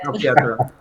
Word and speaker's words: Salpietra: His editor, Salpietra. Did I say it right? Yes, very good. Salpietra.